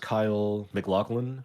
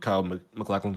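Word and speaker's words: Kyle MacLachlan: I want to look at this post from, I believe it's pronounced Kyle McLaughlin, who was in Twin Peaks.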